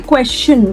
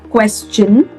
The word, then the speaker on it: question: Now everybody, whenever we have a word that ends with STION, we absolutely do not pronounce it as shun. We don't say question, we don't say suggestion, we don't say digestion or combustion. We rather pronounce it as chun, like question, suggestion, digestion and combustion.